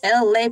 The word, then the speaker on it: ELAY: on Freestyle Thursdays with LA, pronounced like LA like the city.